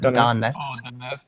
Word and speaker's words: Donetsk: How the fuck do you pronounce that? Donetsk.